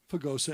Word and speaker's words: Pagosa: far from alamosa okay it rhymes pagosa and alamosa i don't know george's